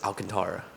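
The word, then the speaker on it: Alcántara: right now okay so when you look at baseball reference it says all in all lower case then capital letters for kon and then tara i believe which to me that's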